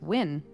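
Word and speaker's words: Nguyen: a Korean last name n-g-u-y-e-n how do you say that name I don't know when I believe it's win really yeah wow never would have gotten that it's Vietnamese okay wow yeah I wouldn't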